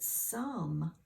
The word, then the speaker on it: some: like we're used to but some mmm sounds like this that silent E is not doing its job this time he normally would make that O be long and say its own name but it's not doing it this time so that's a difficult